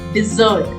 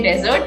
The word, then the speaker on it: dessert: after a meal okay it's called dessert not desert if you say dessert you will need to go to a sandy place where there's too much sunshine okay dessert it's dessert